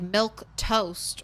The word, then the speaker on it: Milquetoast: do you say it you can't say it like milk toast right but yes yes you can yes you can uh